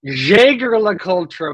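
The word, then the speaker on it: Jaeger-LeCoultre: uhhuh uh probably because they Jager LA cultra boys that's the correct pronunciation from the pon of himself Jagger can't afford the padex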